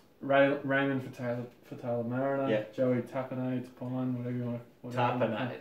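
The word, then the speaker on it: Tapine: Raymond for Taylor Mariner, Joey Tapane, whatever you want to... Tapane. No, hang on. Big Teddy. It's Tapane. Send it again. Tapane. He did the syllable enunciation for you.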